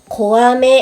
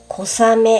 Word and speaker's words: 小雨: इसका उच्चारण "कोआमे" की बजाय "कोसामे" होता है।